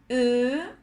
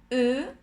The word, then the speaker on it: eux: Les pronoms toniques sont moi, toi, lui, elle, nous, vous, eux. La X no se pronuncia.